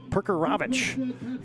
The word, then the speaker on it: Perkarevich: And Ivic Perkarevich is, we got that official pronunciation earlier today. Perkarevich, as he will run the football a lot.